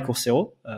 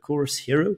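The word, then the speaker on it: Course Hero: investi dans Coursera et Coursero, Coursehero pour ceux qui tiennent à une prononciation anglophone parfaite.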